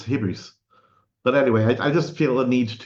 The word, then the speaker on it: hybris: Wasn't it pronounced hybris? Maybe I mispronounced the old Greek. It's like old Greek physis is written with a U, but it's not physis, it's physis. And I think that the original, the proper way to pronounce that one is it's hybris.